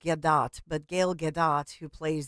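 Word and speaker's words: Gadot: of this is Gail I know she it's pronounced gadat but Gail gadat who plays the evil stepmother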